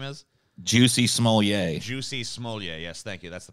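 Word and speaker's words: Smollett: ] his name is juicy small yay juicy smolya yes thank you that's the proper pronunciation um he uh he was sentenced to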